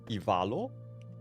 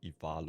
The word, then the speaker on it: Ivalo: So is it E or I? I imagine that with phonetic pronunciation it will be Ivalo or something.